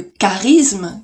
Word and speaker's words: charisme: le contenu d'une chariot ça se prononce en ch chariot t alors que charisme qui s'écrit aussi ch se prononçant cas charisme qui à grands pas